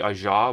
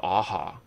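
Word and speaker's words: Ajaw: his name is I I thought it supposed to be Aja but I think it's aha right cuz that's how it's said in Japanese so I think like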